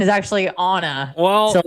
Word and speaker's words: Anna: my name, I say Anna as well because phonetically it is Anna. But unfortunately, my parents wanted to be bougie and uh the pronunciation is actually Anna.